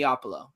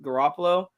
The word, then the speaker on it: Garoppolo: Jimmy Opolo ain't a guy, and we know I know I'm saying his name wrong, but that's how he says it, and it's like the funniest shit ever. Jimmy It's the Garoppolo.